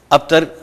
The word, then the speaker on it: ابتر: ابتر اس کے نیچے بھی ذرا آپ نے لائن لگانی ہے، اس کو انڈر لائن کر دیں کہ ابتر، را کو تھوڑا پرومیننٹ ہم نے کرنا ہے، عام